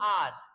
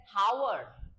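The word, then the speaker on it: hour: कोई कोई बोलता है हावर कोई कोई अभी भी बोलता है हावर बोलता है हावर बट दैट्स नॉट हार ये होता है आर इसमें एच जो है इसका प्रोनाउंसिएशन नहीं होगा मतलब कि इसका उच्चारण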